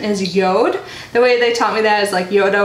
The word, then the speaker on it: Jord: or the J but the pronounce the right pronunciation is Yoda the way they taught me that is like